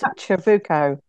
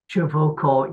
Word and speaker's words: Ciavucco: Nobody can pronounce it. It's Ciavucco. Ciavucco, yes.